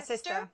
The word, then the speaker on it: SISTR: There's the SISTR. Is that how I pronounce it? Yeah, SISTR.